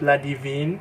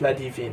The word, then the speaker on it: Ladivine: This one is by Miriam and NDiaye, and this one is called Ladivine. I think that's how you pronounce it. Perhaps it's not Ladivine, it's Ladivine, because it's originally in French.